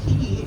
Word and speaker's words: quay: Now, quay, if you are curious, is spelled Q-U-A-Y.